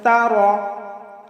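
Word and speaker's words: تَرَ: الله الرحمن الرحيم আলাম তারা আমরা অনেকেই পাঠ করি আলাম তারা তারা এই তারা হবে না, এখানে র হচ্ছে পুর করে বা মোটা করে পড়তে হবে। আমরা পাঠ করব তার, পাঠ করব না তারা।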